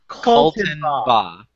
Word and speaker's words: Kaltenbaugh: It is not hard to say. Kaltenbaugh. There you go. Three syllables, man.